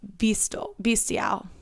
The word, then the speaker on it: bestial: He looked almost bestial. Bestial? It's spelled like bestiality, but no ality.